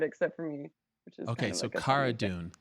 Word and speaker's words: Cara Dune: for me okay so Kihara dune like Carano Cara dune okay and there she